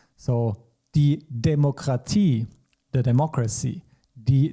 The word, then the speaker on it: Demokratie: And IE, which we pronounce as I in German. So die Demokratie, the democracy, die Demokratie.